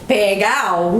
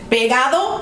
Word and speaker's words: pegado: Pegao. Pegao. So it's pegado or it's pegao. Pegao was just a sloppy way of saying pegado.